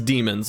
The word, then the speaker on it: Daemon: Right, it's demons apparently. I've been getting corrected that you pronounce it demon even though there's an A in it.